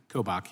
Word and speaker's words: Kobach: Attorney General Kobach, am I getting that close to pronunciation, sir? Kobach, yeah.